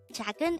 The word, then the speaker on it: 작은: hangout word number 242 this is pronounced as a two-syllable word the first syllable is